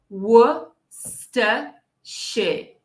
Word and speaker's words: Worcestershire: Então, temos aqui Worcestershire, Worcestershire, Worcestershire. E vai terminar com o som schwa.